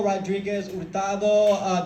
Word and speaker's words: Rodriguez-Hurtado: In case anyone was talking, my name is Rodriguez-Hurtado. The H is silent, but I am not.